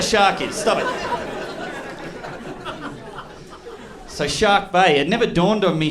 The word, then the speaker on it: Shark Bay: in a place called Shark Bay okay shark shark with an R okay I don't I don't pronounce my eyes okay I don't have